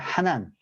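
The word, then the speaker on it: חן: 히브리어로는 은혜를 여러분 그 히브리어 발음으로 하나입니다 하난 헬라어로는 카리스 카리스는 들어보셨을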